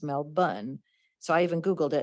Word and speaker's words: Melbourne: in melbourne australia and i always thought it was melbourne and when we were in houston they informed us no that's not how you say it it's mel bunn so i even googled